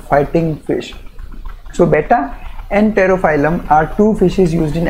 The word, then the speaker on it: Pterophyllum: Pterophyllum starts with P though, but P is silent, so we pronounce it as pterophyllum.